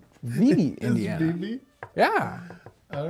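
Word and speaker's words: Vevay: This is Vivi. Vivi, Indiana. BB? Yeah. All right. Gnawbone. This isn't a funny pronunciation, but there's some great towns down in southern Indiana.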